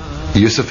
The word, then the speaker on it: Yusuf: He said, can't you use the Arabic pronunciation? I said, yeah, why not? So, Yusuf Islam.